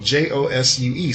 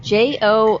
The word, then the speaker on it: Josue: I've been emailing him for like the past 6 months, and his name is spelled Josue. So I've been saying Josu. I've spoken to this man on the phone. What is it? Josue.